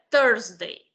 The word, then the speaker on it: Thursday: El único que yo le podría valer que tenga algún inconveniente a la hora de pronunciar sería Thursday. Pero si usted recuerda la pronunciación de 13, o 30, son bastante similares, lo único que en este caso sí es una U la que pronunciamos.